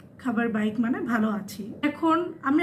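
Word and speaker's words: khabar baik: আপনি বলবেন, আমরা যেরকম বলি ভালো আছি, তো এটা হবে খাবার বাইক। খাবার বাইক মানে ভালো আছি।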